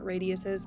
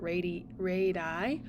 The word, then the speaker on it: radii: Radius is a line segment from the center to a point on the circle, and a plural pronunciation of that is not radiuses, but radii.